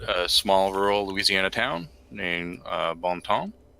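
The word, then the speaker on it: Bon Temps: rural Louisiana town named Baum Tom which is pronounced like that by the locals yes sort of on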